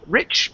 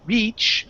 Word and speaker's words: rich: situations right um okay Rich pronunciation instead of saying re reach okay use a short I I rich rich okay